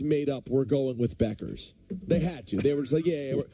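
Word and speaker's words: Bueckers: maor what I say the you is silent is Paige Beckers oh no is that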